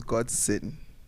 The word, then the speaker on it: Godsón: The spelling is Godson. Yeah. Pronunciation is Godson. That's just the difference.